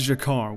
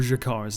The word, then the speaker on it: G'Kar: Kasulas imbuss Jakar with surprising camp and eccentricity.